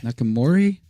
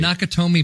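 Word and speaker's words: Nakatomi: of Nick and we're rebuilding look at that nakamori how do you say that not naka Tomi not kotomi sorry sorry naka Tomi Plaza oh my god Mike alright site we're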